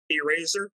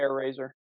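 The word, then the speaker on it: Airazor: on this briefly um eraser I think that was her name Frank please pronounce me if I correct me if I'm pronouncing that yeah air razor thank you I name a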